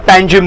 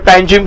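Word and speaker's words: Panjim: सबसे बड़ा सिटी है पनजी पनजी बोलो या पंजीम बोलो pronounce in English we call पंजीम हमारे लोकल लैंग्वेज में पंजी बोलते हैं जो गोवा की कैपिटल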